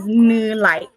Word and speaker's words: Nilay: So my name split up is Nilay. Like, that's how you say it in Hmong, is Nilay.